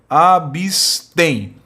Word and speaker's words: abstém: recai na última sílaba abstém olha divisão é essa abstém né a sílaba tônica é a última sim então a palavra